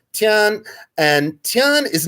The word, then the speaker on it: Tian: sort of a universal order which is today pronounced tian and tian is not a person tian is